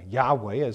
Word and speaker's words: Yahweh: Goes on to say there is no doubt that the original sound was W and not V. Sometime during the history of the Roman or the history of the Hebrew language, there was a shift from W to V in pronunciation, probably already during the Mashiach period.